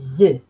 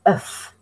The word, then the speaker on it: œuf: and maybe eggs, des œufs. Now, an egg in French is un œuf. You say the F when it's in the singular.